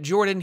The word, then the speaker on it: Jorphdan: Jorphdan here. The PH is silent.